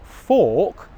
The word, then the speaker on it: fork: So the two sounds in question here are /ɔː/ the long English vowel sound /ɔː/ and the short English vowel sound: /ʌ/. Now I'm going to compare the two /ɔː/, /ʌ/ These two vowel sounds come from the same position in my mouth the main difference here is that for /ɔː/ as in 'fork' my lips are rounded look at my lips